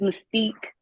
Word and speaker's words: Mystique: Give me the correct pronunciation. Good morning to you, ma'am. Good morning. It's Mystique. Mystique.